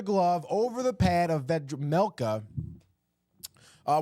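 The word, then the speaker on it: Vejmelka: over the pad of V Mela uh which I believe they've been pronouncing ve Mela I guess the J is silent um I wasn't aware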